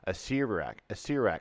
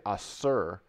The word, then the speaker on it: Acererak: So I would say Acer, like Acer, who's a soothsayer, Acererak, and I would skip this E. So you're supposed to say Acererak, so Acererak, which hurts, and four syllables.